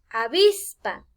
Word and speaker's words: avispa: hay un ejemplo avispa al pronunciar la vista identificamos tres sílabas a vis pero si nos fijamos avispa lleva el acento en la penúltima fila esta sería última penúltima en la penúltima sílaba a vis muy bien